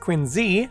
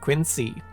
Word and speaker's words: Quincy: president, John Quincy Adams, is supposed to be pronounced Quinzee, not Quinsee.